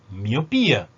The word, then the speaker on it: miopía: Pero nota que miopía ya lleva tilde, entonces yo pronuncio miopía, ¿no?